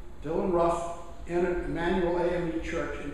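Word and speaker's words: Roof: white man named Dylan looks like Ruth as you write it but the family name is pronounced Ruff Dylan Ruff entered Emanuel am Church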